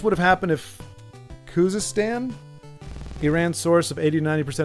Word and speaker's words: Iran: know how peach is a factor in it's pronounced Iran what did I call it oh Iran I